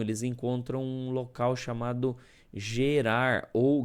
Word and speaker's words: Gerar: Chegando nessa região, eles encontram um local chamado Gerar ou Guerar, né? Na verdade, o a pronúncia certa é guerar, né? Porque o G no hebraico ele tem som de G, né?